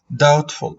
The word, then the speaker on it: doubtful: what does it mean doubtful doubtful take care also this word the letter B is silent okay guys the letter B is silent so we call it doubtful okay what does it